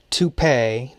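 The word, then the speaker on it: topay: deer the conical summer toupee t-o-p a-y not spelled like the hair piece is still in use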